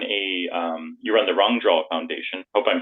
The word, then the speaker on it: Rangdröl: there you run a um you run the wrong draw Foundation hope I'm pronouncing my correctly wrong Foundation right okay good yeah pretty good oh